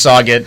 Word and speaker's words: Sauget: I was like, man, I've told like 4 people already that it's Sauget. Yeah, my mom had to correct me on it. I was like, I don't know how to pronounce this place.